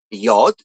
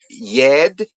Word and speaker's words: yod: It's pronounced yod. There's no yed. It's not pronounced yed.